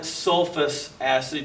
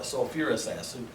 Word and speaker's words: sulfurous acid: Okay, again, we're adding a little extra syllable. If you called it sulfus acid, you would be fine, but we actually would call it sulfurous acid. Just kind of one of those odd chemistry things.